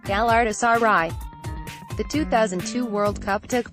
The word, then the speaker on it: Galatasaray: response often came as Galatasaray and I would gleefully correct them with the correct pronunciation gal artists RI the 2002 World Cup